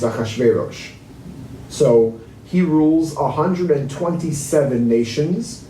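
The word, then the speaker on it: אחשורוש: his name in english but in hebrew it's achashverosh so he rules 127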